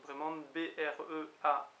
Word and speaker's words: bremañ: Donc là, c'est sûr que ça se prononce Breman.